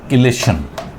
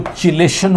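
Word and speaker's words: chelation: एक और पॉइंट आता है हमारे पास यहाँ समझने के लिए, और वो है किलेशन, या समटाइम इसको चिलेशन वर्ड भी बोलते हैं, बट किलेशन ज़्यादा परफेक्ट प्रोनाउंसिएशन रहेगा इसका।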